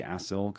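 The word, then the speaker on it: acyl: I'm realizing I'm saying fatty acetal COA. There's no T. I just don't know how to pronounce that word. So, fatty acil.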